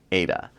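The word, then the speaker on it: Aida: in the market is Ada uh this can also be pronounced AA like the Opera both are correct in fact it is named after the Opera so you can call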